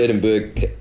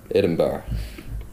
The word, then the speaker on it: Edinburgh: Saturday the 2nd of September at the Edinburgh. Edinburgh. It's spelled Berg. It's pronounced bruh.